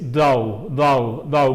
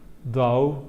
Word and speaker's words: though: Estoy diciendo though. El primer sonido no es un da, es un though. Mi lengua está detrás de mis dientes.